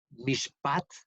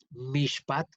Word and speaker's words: mishpat: La primera ocasión que se dice esta palabra, que significa, esa palabra en hebreos es mishpat, mishpat, M-I-S-H-P-A-T, mishpat, eh, significa propiamente un veredicto.